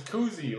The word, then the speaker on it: Kuhse: my last name is Koozie like Bob Koozie I know the German pronunciation is a little different so they call it out here and that's cool too